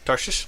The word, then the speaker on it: Tarshish: Tarshish? Now say Tarsus. Tarsus? Oh, see, you like emphasize, like say it casual, like if you're casually saying Tarsus, then you're gonna say Tarshish.